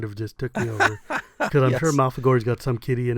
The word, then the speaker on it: Malfegor: vampire wizard correctly there it's pronounced mouth ago wow that's a I